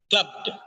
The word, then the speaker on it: clubbed: not club is Club the last sound B and D there there should not be a vble sound in between B and D it should be very sharply connected clubbed clubbed it's not clubbed